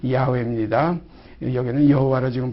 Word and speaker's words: 야훼: 이 스스로 계신 이 우리 하나님 아버지의 그 전함은 여기 기록된 대로 나는 여호와라. 여호와라는 그런 전함을 가지고 계십니다. 그래서 우리 하나님, 우리 아버지의 전함은 여호와라. 이것을 원 발음으로 하면 야훼입니다.